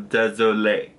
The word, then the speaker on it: désolé: Anyway, désolé has an accent, so you have to. If a word in French ends with an accent, like an accent, then you have to pronounce that word. So, désolé. So DESOLE, and then the E at the end has the accent.